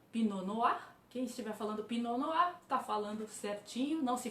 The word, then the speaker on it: Pinot Noir: Então, Pinot Noir, quem estiver falando Pinot Noir, está falando certinho.